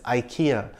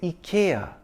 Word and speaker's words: IKEA: software thank you Ikea everyone I know says Ikea the Indian ads and the American ones say Ikea but interestingly the UK ads say Ikea which is closer to the Swedish pronunciation so if we want